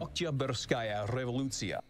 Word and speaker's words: Oktyabrskaya Revolutsiya: Oktyabrskaya Revolutsiya.